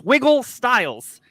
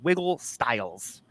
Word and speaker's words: Wiggle Styles: Sorry, I'm putting the wrong emphasis on the wrong syllable. Oh my gosh. Wiggle Styles. Good grief, JT. Wiggle Styles.